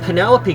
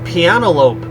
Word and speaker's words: Penelope: help but secretly wish Penelope gets her happily ever after I mean this is the girl who was too shy to correct me when I mispronounced her name is piano lope but now here she